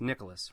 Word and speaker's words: Nikolaus: an and correct me it's actually pronounced it's pronounced Nicholas right yes okay so you don't go by Nicolas or anything like that oh Nicholas okay it's just nichlas very good very good and you are over